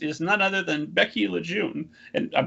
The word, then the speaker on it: LeJeune: um where i'm from it's actually pronounced lejeune and i gave up that fight around like fifth grade because there's no r in it so constantly like correcting